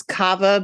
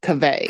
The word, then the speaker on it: Kaveh: thought it was Kava, but I was doing the story today and he says Kaveh. Kaveh. Yeah, I thought it was Kaveh?